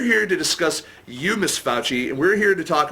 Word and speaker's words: Fauci: how do you pronounce your last name? Fauci. It is Fauci.